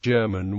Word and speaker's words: German: Alexa yich German was a Soviet and Russian filmmaker most active as a director and screenwriter his last name is pronounced with a hard G and in English is